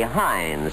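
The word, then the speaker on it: Heinz: you'll love hind suf no matter how you pronounce it say Hines first and you know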